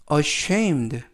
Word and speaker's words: ashamed: 뜻이 되겠습니다 이번 표현은 ashamed ashamed ashamed라고 발음하시면 되겠고요 중간에 있는 알파벳 a 강세가 있어서 ashamed라고 발음하시면 더 좋겠습니다 품사는 형용사 뜻은 부끄러워하는